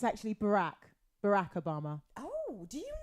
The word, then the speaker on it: Barack: blue King strangers name though how do you pronounce it again oh right oh boy it's actually Barack Barack Obama oh do you know him is